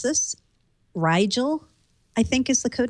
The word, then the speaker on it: Rigel: Maybe you guys can help me pronounce this. Rigel, I think, is the code name.